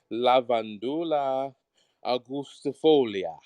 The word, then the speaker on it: Lavandula angustifolia: said it because that's those are the kind of pronunciations we use in latin class so that's pronounced la vanduula agustifolia and it's not spanish